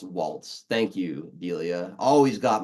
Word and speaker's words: Walz: Waltz, it's pronounced Waltz.